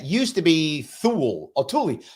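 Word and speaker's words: Thule: that and it used to be THU or Tulie not THU it's written tul uh THU but pronounced Tulie used to be Tulie before there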